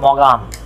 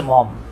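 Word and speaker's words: Maugham: William Somerset মম, এই মম বানানটা দেখলে অনেকে চিন্তা করে এটা তো মম না ভাই, এটা উচ্চারণ হবে মগাম। অনেকে মনে করে, আমি নিজেও মনে করতাম, এম এ ইউ জি এস এম মনে হবে মগাম। আসলে মগাম না, এটা উচ্চারণই হচ্ছে মম, মম, মমও না কিন্তু।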